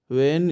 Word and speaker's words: vane: देखिए तीनों को देखिए, वेन ही बोला जाएगा, लगभग सभी को एक सही प्रोनाउंसिएशन है।